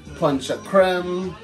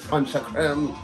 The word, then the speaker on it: ponche de crème: gain up to make drinks making some sorrel punch a creme or punch day cream so it's spelled but we call it intruding language panchakram and some real ginger beer aeroplane they need